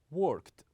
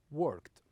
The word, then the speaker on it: worked: But some of them has only one syllable, like worked, we pronounce it as worked, worked.